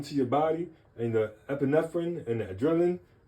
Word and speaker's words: epinephrine: How do you pronounce this word? Epin, I think it's epinephrine. Epinephrine.